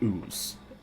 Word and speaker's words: Uz: Um, but there are the ooze, which is spelled U Z, which for one of better words are what you would consider to be trolls.